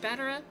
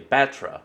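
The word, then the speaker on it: Battra: Why does this armor look like Batara? Huh, that's actually an interesting way of pronouncing it. I've always heard people just say Batra, not Batara.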